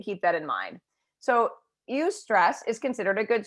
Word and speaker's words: eustress: And I don't ever understand this word, eustress. That's how you say it if I'm not mistaken.